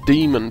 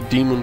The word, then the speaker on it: Daemon: you will need is something called daemon tools but it's spelled like diamond so da e mo n daemon tools oops it type